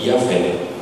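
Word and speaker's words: Yahweh: Mas no original, na verdade, é Yavé.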